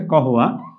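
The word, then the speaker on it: قهوة: গাওয়া আপনারা দেখবেন আরবের সবচেয়ে প্রসিদ্ধ খাবার হচ্ছে গাওয়া এবং খেজুর।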